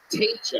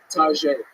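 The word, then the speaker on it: Taija: Teacher. Am I saying that right? Tajay. Tajay. T-A-I-J-A. Tough Yeah. one. Everybody mispronounces that one, right?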